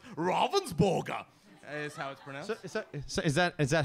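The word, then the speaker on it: Ravensburger: wonderful German company as I told you it's pronounced Robbins burger so is that is that how you pronounce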